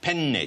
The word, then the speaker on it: penne: In Italian, it's very important that you pronounce a double consonant. There are two N's in the word. So you say it... How do you say it properly? Penne. Penne.